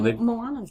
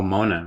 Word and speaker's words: Moana: Well, Moana's too recent. Oh, Mona, right?